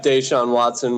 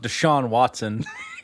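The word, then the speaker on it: Deshaun Watson: do well this year but you do have desean watson which is gonna be a solid quarterback obviously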